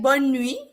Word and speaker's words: bonne nuit: It's same because it would be like bonne nuit.